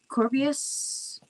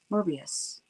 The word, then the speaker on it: Morbius: Corbius? No. What was it called again? Morbius.